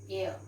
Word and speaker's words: heir: and so at inside we pronounce it as air air means goddess okay